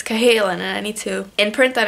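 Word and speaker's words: Cahalan: by Susannah Kalin and I always mispronounce her name I always feel like the L comes before the H and I say Callahan but it's Kalin I need to imprint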